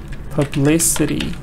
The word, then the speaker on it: publicity: Da da da da da. Publicity. Again, publicity is the same.